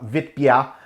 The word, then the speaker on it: Witbier: a classic vip beer or if you pronounce it it's the germans do uh vitbia recipe this was a